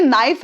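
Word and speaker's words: knife: ये काई है और ये नाइफ है और के साइलेंट है यहां पर उसकी दुविधा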